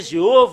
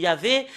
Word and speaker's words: Yahvah: nom de faux dieu ça a changé jéov o il y avait normalement ça doit être yava qui doivent prononcer et et après s'ils